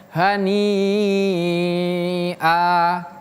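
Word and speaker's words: هَنِيٓـًٔا: Hani aa ya dia bacanya panjang sampai enam harakat. Namanya adalah mad wajib.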